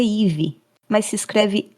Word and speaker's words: Eve: O nome dela é Ive, mas se escreve E i E V E E um forma estranha de escrever esse nome, mas isso pouco importa.